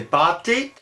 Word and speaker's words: pasté: Ce « pastus » donnera l'ancien français « pasté », qu'on pouvait peut-être prononcer sans « s », qu'on disait « pâté », à partir duquel